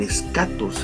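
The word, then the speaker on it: eschatos: final el el el escatos en el lugar el tiempo de último el último tiempo ese tiene una subdivisión verdad se escribe es hatos pero se pronuncia escatos sin y tiene una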